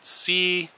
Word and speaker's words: Ceanothus: And since you can see this, you can call it Ceanothus, or see you know this. I don't know, it's a little bit of a stretch, but this Ceanothus right here is a